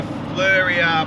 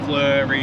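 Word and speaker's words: Fleurieu: I say the right we looked it up how to pronounce it before we went to Kangaroo Island so every time I say it now I kind of say flurry yeah yeah as I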